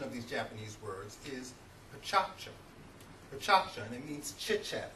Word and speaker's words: pecha kucha: And as an American, you may want to pronounce these words pecha kucha. But the correct pronunciation of these Japanese words is pechacha.